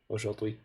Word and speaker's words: aujourd'hui: Aujourd'hui is a huge word, and it's like 2 sounds, basically. Aujourd'hui. If you pronounce it slowly and articulately, you're just doing it wrong.